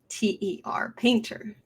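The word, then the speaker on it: Paynter: a composer cinematography is robert paint or painter but it's spelled like pay pay p-a-y-n-t-e-r painter the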